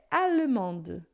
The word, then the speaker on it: allemande: Só que quando a gente acrescenta o E, aí a gente pronuncia, né?